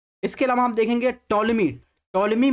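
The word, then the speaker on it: Ptolemy: अलावा आप देखेंगे टॉलमी टोलमी में आप देखेंगे यहां पर पी जो है साइलेंट रहता है जसे साइकोलॉजी में है वैसे इसमें देखेंगे टॉलमी इस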